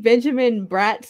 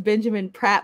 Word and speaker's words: Benjamin Bratt: But why did I think Benjamin Bratt's name was Benjamin Pratt my entire life, and now my mind is fucking blown that it's a B and not a P?